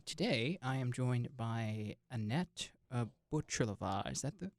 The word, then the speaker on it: Anet Bucilova: Today, I am joined by Anet Bucilova. Is that the right way of pronouncing it? Yes. Okay. Anet Bucilova.